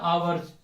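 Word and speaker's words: hour: उसके बाद याद है आवर्स, ठीक है, लेकिन इसमें स्टार्ट का ऐसे हो रहा है एच से, एच अपना क्या है, साइलेंट, एच अपना क्या है, साइलेंट है, तो आ रहा है,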